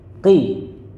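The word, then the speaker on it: قِ: Qaf pakai kasroh. Bacanya apa? Qi.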